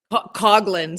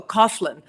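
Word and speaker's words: Coghlan: Which was Coglin. C O G H L A N. I was born Coglin. And everyone said, "Oh, Coughlin. Coughlin."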